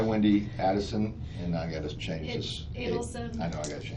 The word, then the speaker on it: Adelson: Who's this Addison? Adelson. So Actually, it's spelled right.